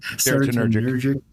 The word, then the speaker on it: serotonergic: And so that's so I think that's whole serotonergic. Did I say it right? Serotonergic.